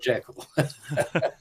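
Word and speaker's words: Jekyll: know J Island um JL is incidentally the original pronunciation I know everybody calls it jaal but um uh you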